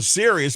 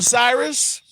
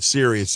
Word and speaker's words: Sirius: I was on Sirius. People couldn't even pronounce it. He said, man, I heard you on Cyrus.